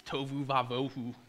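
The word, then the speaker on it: תֹהוּ וָבֹהוּ: But the phrase, the earth was formless and empty, first of all, really cool fact, it rhymes in Hebrew. It's tovu vavohu.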